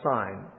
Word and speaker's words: Sin: It's probably etymologically related to the word Sinai. And so it might be pronounced sign. It looks like we'd pronounce it sin. I have the habit of pronouncing it sin because it looks like our word sin.